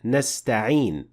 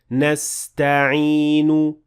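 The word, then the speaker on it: نستعين: So there is a very slight dhamma at the end of the word nasta'in. And at the same time, I did not fully pronounce the dhamma at the end of the word and say, nasta'inu.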